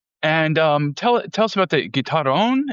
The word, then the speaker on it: guitarrón: And tell us about the guitarrón. Am I pronouncing it correctly? Yeah, it's like guitarrón.